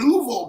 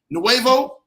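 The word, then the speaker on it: Nuevo: California new uh is am I saying it right noo yeah noo noo California I had to look at that said that ain't Novo I'm thinking of the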